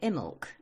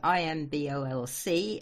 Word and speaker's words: Imbolc: got what we call Imbolc. That's got funny spelling too. It's Imbolc, and we don't say most of it. We just say Imbolc.